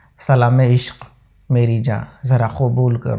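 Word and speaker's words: इश्क़: तो इश्क के क में नुक्ता है, अश्क के क में नुक्ता नहीं है।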